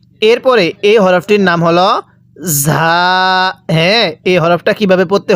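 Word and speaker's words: ز: পড়বো র এরপরে ঝা এটাকে যা পড়া যাবে না যা বাংলায় ঝমন উচ্চারণ হয় এরকম ভাবে উচ্চারণ হবে ঝা এরপরে এই হরফটির নাম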